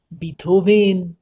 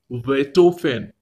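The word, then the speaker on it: Beethoven: আমার কিন্তু আপনার নেই কি রকম হাইডেন মোটার্ট বেটোফেন এই হলো আসল উচ্চারণ হাইডেন মোটার্ট বেটোফেন থ্যাঙ্ক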